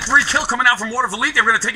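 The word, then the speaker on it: Watervliet: Watervleit. Like, it rhymes with elite.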